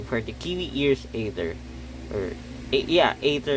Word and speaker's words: Aether: Aether is the correct pronunciation of that, I guess.